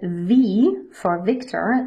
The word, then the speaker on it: Victor: American English Z for Zulu please note that V for Victor this V is pronounced like the German V sound whereas W